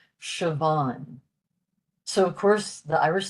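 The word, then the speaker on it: Siobhán: But because the S is followed by an I, that gives us the sh, Siobhan.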